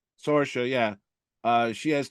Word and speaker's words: Sorsha: Sorsha? Sorsha, yeah.